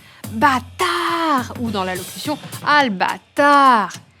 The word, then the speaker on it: bâtard: faut se pencher sur l'interjection bâtard qui se prononce d'une façon bien particulière bâtard ou dans l'allocution al